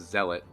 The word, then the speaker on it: zealot: the zealot i think i was calling it the z lot but i think it's actually pronounced zealot um which if you